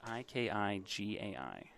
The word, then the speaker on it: ikigai: It's spelled Ikigai.